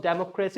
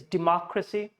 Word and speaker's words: democracy: It's not democracy, it's democracy.